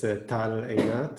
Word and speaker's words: Tal Einat: Is Tal Ainat? I'm not sure if I pronounce it. Tal, yeah. Yeah, that's me. Can you hear me? Yes. All right. So yes, it's Tal Einat.